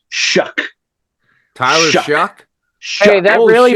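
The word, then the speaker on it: Shough: It's the guy's name is pronounced Shuck.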